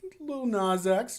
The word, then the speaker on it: Lil Nas X: I pronounced it like Nas, like the pop star. So we just got to back it up. It's just Lil Nas X. Just let it flow. Softer flow S.